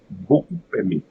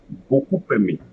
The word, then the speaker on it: beaucoup aimé: And finally, when the first word ends with P. So in this case, it will create another abstract P at the beginning of the second word. So, beaucoup aimé. Beaucoup aimé.